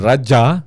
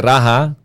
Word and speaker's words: Raja: That's why the word Raja, dili Raha, klaruhan na ninyo kanunay, makabasa ka ni mo na. Ang Spanish may nag-mention na nag-Raha. Di man sila ka-pronounce J.